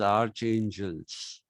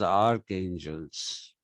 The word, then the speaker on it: archangels: A lot of people still read it as archangels, but actually you're supposed to read it as archangels.